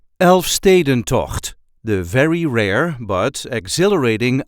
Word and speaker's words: Elfstedentocht: a regular Dutch accent elf staden to the very rare but exhilarating outdoor skating event this is how we say Elfen to elf Sten to there is a light emphasis on the second syllable elf St elf St